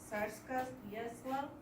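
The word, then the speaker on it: Tsarskoye Selo: In 1811, he went to a great school, which was called Lyceum Tsarskoye-Selo, that's how you pronounce it.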